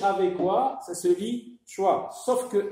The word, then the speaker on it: choix: H avec quoi ça se lit choix. Sauf que X, هذا حرف صامت نكتبه ولكن لا نقرأه. C'est une lettre muette. C'est une lettre qu'on ne prononce pas.